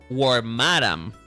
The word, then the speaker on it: Wormadam: pron that it's pronounced warm madam, not warm. is warm madam. Warm madam. That's the way that you are supposed to pronounce it. Like you're supposed to accentuate the word madam.